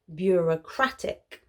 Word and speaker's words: bureaucratic: Bureaucratic is the adjective. Notice that they're pronounced quite differently, and this is because the stress is on a different syllable. Repeat after me. Noun, bureaucracy. Bureaucracy. Adjective, bureaucratic.